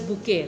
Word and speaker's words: bouquet: This bouquet, this is pronounced as bouquet, right?